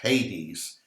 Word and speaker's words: Hades: or 80s a-d-e-s but usually pronounced hades it means the place